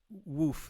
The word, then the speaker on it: WWOOF: WOOF, donc ça s'écrit WWOOF, c'est Worldwide Organization for Organic Farm.